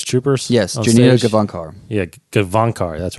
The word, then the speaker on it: Gavankar: It's Jania Gavinkar? Is that Janina? Hold on, I have to read it. It's pronounced Janina?